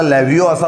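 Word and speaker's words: levo: याचा लेव्हिओचा खरा उच्चार लिओ आहे, परंतु स्पेलिंगच्या दृष्टीने जर का बघायचं झालं तर आपण त्याला लेव्हिओ असा उच्चार केला तरी काही प्रॉब्लेम येणार नाही.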